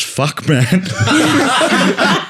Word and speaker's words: Futchman: After the father of Ahab has been murdered by Chris Futchman, pronounced Fuckman, a serial killer that targets fathers, he decides to reunite with his sister Chelsea and hunt him down.